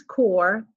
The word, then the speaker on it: Corps: administration creates the peace core notice that core is spelled c RPS I just want to